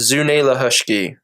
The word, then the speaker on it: Junaluska: So Junaluska, I don't know if you guys drove by the lake or not, but Lake Junaluska, traditionally it's pronounced, culturally it's pronounced Zunelahushki, right?